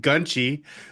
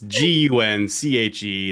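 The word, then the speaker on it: 군체: It looks like it's pronounced Gunchi, but that's not, I'm sure, how it's pronounced. It's Gunche.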